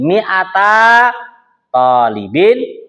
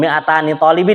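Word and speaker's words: مئتا طالب: Tapi kalau 200 santri cara pengucapannya nunnya nunnya dibuang. Jadi miata tholibin miata tholibatin gitu. Bukan miatani tholibin ya salah.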